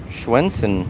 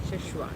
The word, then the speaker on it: Sichuan: And schwinsen. How do you say that? Sichuan.